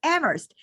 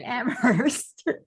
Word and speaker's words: Amherst: he just was like, it's Amherst. Stop calling it Amherst.